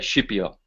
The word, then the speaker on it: Scipio: of the dream of Scipio and now being Italian I'll pronounce that shipya because that's the correct pronunciation but there it is